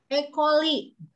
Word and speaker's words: E. coli: E. coli. Ditulisnya C, tapi dibacanya K.